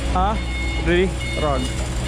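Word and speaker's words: 아리랑: So that syllable is silent, that sound right there is RL, and then that's E, Ri or Li, Rang, R-A-N-G. So that little thing is like an NG.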